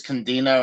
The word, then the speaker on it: Candido: So, the first one they announced for Dark Side of the Ring is they're gonna have Chris Candido and Chris Candido. Yeah, Chris Candido and Sonny Story.